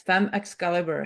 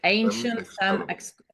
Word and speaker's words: Femme Excalibur: Yes, Femme Excalibur. Yes. Femme Excalibur.